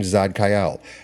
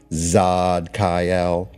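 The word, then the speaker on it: Tzadkiel: Vibrate the name Zadkiel. Zadkiel. Now it's spelled T Z A D K I E L. In most cases, the T is silent. Zadkiel.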